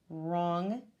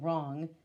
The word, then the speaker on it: wrong: like no-knock knive and spelling words with the silent W and so you look for the ones and that would be wrong we don't say well wrong it's wrong and then you're going to